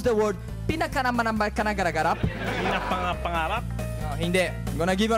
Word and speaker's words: pinapangarap: Can you pronounce the word pinaganapanakanagarap? Pinapangarap?